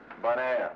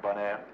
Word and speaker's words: Bonaire: Bonaire. You know, bon, good, air, Bonaire. Huh.